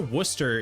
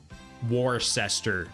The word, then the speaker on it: Worcester: So, I actually was familiar with um Warcester being Worcester. We say like Worcester in Massachusetts though. It's like w wor which probably is not how you pronounce it in the UK.